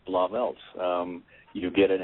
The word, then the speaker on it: Blauvelt: you know it's funny you actually said it right it's blob Els um you get an